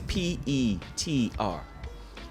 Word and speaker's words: Petr: It's supposed it would think like it's Peter, but it's Petr.